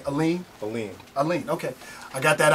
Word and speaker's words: Alleyne: Alleyne.